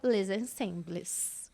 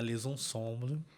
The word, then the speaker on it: Les Ensembles: português a gente fala les ensembles, Camerata les ensembles. Já é bonito, né, Wilson? Já, eu gosto. Eu acho bem harmônico. Mas a gente vai aprender a fazer biquinho.